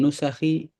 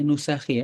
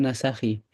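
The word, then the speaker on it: نسخ: Rawahu Tirmidzi wa qala haditsun hasan wa fi ba'din nusakhi. Saya dulu ingatnya bacanya nusakhi ya di sini ya. Kok tiba-tiba nasakhi? Kayaknya salah ini nih, salah salah typo ini. Harusnya nusakhi. Jadi bentuk jamak dari naskah, naskah.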